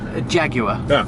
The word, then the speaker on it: Jaguar: And how do you say Jaguar? Jaguar. Yeah, a proper way to say it, of course, not our American stilted way.